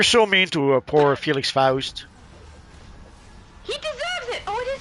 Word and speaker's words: Faust: like, oh my goodness, I've been saying it wrong all this time. Nope, it's Faust.